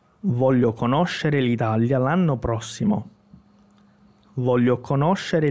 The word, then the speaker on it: conoscere: Geralmente as pessoas dizem conoscere, porque conhecer, a sílaba tônica, né? Então, no italiano é conoscere.